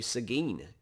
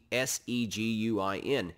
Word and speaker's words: Seguin: One family name you probably ought to remember is the family Seguin. It's spelled S-E-G-U-I-N. Seguin, Texas is named for one of the boys in that family, Juan Seguin.